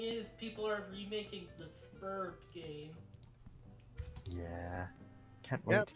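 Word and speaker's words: Sburb: But this is absolutely spurb. Like, suburb with a letter missing, because they're home stuck.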